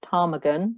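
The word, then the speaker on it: ptarmigan: you look just under the p of tarmagan looks at the silent p you can see there's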